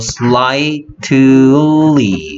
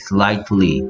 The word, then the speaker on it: slightly: I 소리 나고 GH는 소리가 나지 않는다라는 거. 그래서 slightly, slightly, slightly.